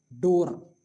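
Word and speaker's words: door: जैसे कि यहां देखिए डोर क्यों बोले? डोर नहीं बोलना है। क्यों? क्योंकि वर्ड के लास्ट में आर यूज़ हुआ है तो हम लोग डोर नहीं कहेंगे। क्या कहेंगे? डो केवल डो कहेंगे। ठीक भले ही लिखा जाएगा लेकिन बोला नहीं जाएगा।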